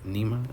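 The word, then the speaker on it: Nima: uh dialogue works with Nema and yesterday I got his name wrong I called him dimma but his actual name is Nema again I don't know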